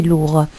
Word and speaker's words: lourd: Pour la troisième phrase, le premier ordinateur était très lourd. Nous avons ici le mot lourd qui s'écrit avec un D à la fin, mais le D ici ne se prononce pas.